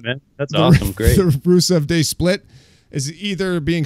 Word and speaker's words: Rusev: Yeah, so his name is not Rusev, technically. It's Rusev.